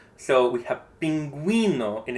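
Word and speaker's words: pingüino: And so these two dots just let us know that we pronounce the U. So we have pinguino and it's pinguino and not pingino.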